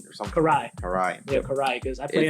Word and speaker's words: Karai: And I do know it's hard to pronounce. It's Karine or something. Karai.